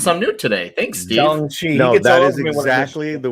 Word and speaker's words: Shang-Chi: The first Steve Mitchum comment where he says the A in Shang-Chi is pronounced like the O in top.